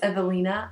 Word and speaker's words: Ewelina: The way it's spelled is E-W-E-L-I-N-A, which in United States, because that's where I live, people think and they say my name, Ewelina. Ewelina. And they have no idea why I say it's not Ewelina, it's Evelina.